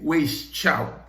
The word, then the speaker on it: Weishaupt: Lo pueden buscar, W-E-S-I-C-H-A-U-P-T, Weishaupt, así como suena, se lo estoy pronunciando, como está escrito.